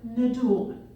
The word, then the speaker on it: Nadoolman: up who recognizes Indiana Jones okay who can pronounce my maiden name okay so my I'm my maiden name is Deborah nulman so my parents knew that I design that